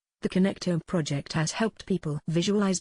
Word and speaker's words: connectome: There's an amazing project going on right now in the neuroscience world called the Human Connectome Project, pronounced connectome, in which scientists are trying to create a complete detailed map of the entire human brain.